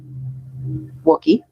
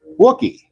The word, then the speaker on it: Wookiee: Wookiee. Okay. Wookiee. Yeah, Wookiee. Like cookie, but with a W.